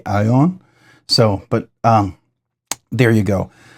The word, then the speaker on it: Æon: So I've heard people pronounce it Eon. You know, you can pronounce it however you want, but in Danish it would be Aeon.